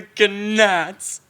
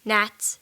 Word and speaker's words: gnats: frogs lice and the cannots um i think it's pronounced gnats pharaoh the ganats and flies in the